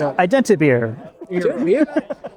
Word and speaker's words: IdentiBeer: I mean, I would be interested to hear how they pronounce it in Italian. Yeah. But It's IdentiBeer.